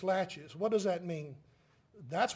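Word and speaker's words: laches: in Civil Court as latches at least that's the way we pronounce it in this part of the world it's French so I'm not sure if that's proper pronunciation but it's latches what does that mean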